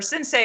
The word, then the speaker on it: Sensi: Arsenio, his DJ page on Instagram is TheDJSensi, or Sensei is how it's pronounced, but it's spelled Sensi if you want to be phonetic about it.